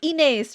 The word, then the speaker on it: Inez: It's Inez, right? Rhymes with face.